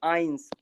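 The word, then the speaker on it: eins: अब यहाँ पे आ जाएंगे ई आई एन एस, तो ई आई है, ये आई का ही साउंड देगा, तो ये क्या हो जाएगा? आइंस, आइंस, आइंस।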